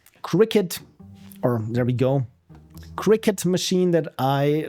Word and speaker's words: Cricut: or there we go cricket machine that I like I said I I have to really make sure that I'm not pronouncing it cry cut because it's C R I cut and also what I've